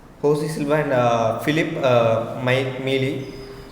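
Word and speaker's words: José Silva: so she's in Russia J is silent so although his name spelling is josc it is called as Jose silver and uh Philip uh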